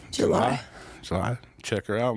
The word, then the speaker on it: Jelie: spell it different yeah j e l i e Eli Manning but with an e at the end and a J at the beginning July so I check her